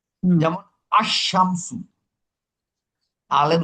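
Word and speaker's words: الشَّمْسُ: আমার কমারি হরফে শামসির আগে যদি আল থাকে তাইলে কিন্তু ওই আলের লাম উচ্চারণ হবে না। হুম, যেমন আশ-শামসু, আলের উচ্চারণ হবে না।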